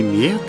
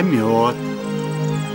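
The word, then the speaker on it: мёд: Не мед, а мед. Понимаешь? Йо. Йо, мед. Мед. Мед.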